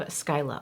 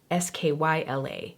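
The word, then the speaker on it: Scylla: just want to say this is spelled s-c-y-l-l-a there is also another shade s-k-y-l-a within the Davina Cosmetics collection but from looking it up they are both pronounced Skyla maybe I'm doing it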